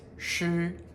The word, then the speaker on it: 匙: This second tone ch can also be pronounced shi as a 钥匙.